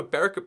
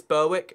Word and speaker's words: Berwick: But still, this is Berwick upon Tweed. You might think it's Berwick, or and logically so, but you would be wrong, dear sir.